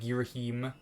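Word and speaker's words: Ghirahim: you may call me gear him so okay some people say his name like somebody said girohim and gang giver him i just say gear him that's how i've always said it i don't know if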